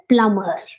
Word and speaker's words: plumber: Plumber. हम प्लम्बर ही बोलते हैं. It is plumber. Plumber. Yeah. Ba sound, drop ba sound.